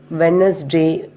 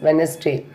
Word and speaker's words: Wednesday: First one is when it come before N or after N, the letter D is silent. For example, Wednesday, handsome, handkerchief, sandwich, like this.